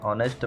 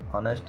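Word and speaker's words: honest: इज़ एन ऑनेस्ट मैन, ऑनेस्ट यहाँ पर आ का स्वर का उच्चारण होता है, यहाँ पर चाहे शुरू में जो है वो कॉन्सोनेंट है लेकिन इसका उच्चारण बोलते समय जो है वो आ की ध्वनि आती है, मतलब वावेल्स की ध्वनि आती है, इसलिए इसके आगे जो है वो एन लगेगा। आपको याद रखना है, ऑनेस्ट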